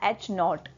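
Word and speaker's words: H naught: दिनो करते हैं और इसको हम प्रोनाउंस करते हैं हा नोट ठीक है और नेक्स्ट इसे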